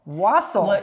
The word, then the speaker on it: wassail: Wassail. That's how you pronounce it, first of all.